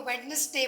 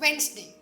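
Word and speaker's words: Wednesday: होती है जैसे कि हम वेडनेसडे को वेडनेसडे बोलते हैं बल्कि it's called वेनसडे it's pronounce like वेनसडे right B ई ए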